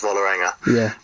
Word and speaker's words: Vålerenga: I'll speak Norwegian here, but the A with the little dot on the top of it is pronounced like an O, and I get that wrong completely.